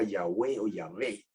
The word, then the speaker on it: Yahweh: el nombre sagrado que se sabemos que se pronuncia Yahweh pero él no puso las vocales de yahvé